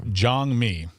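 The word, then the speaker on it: 장미: It's pronounced Jangmi. It's Jangmi. Korean for rose. That's what the word means.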